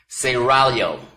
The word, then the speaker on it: Seraglio: Pronounce it Seraglio. I gotta roll the tongue, excuse me.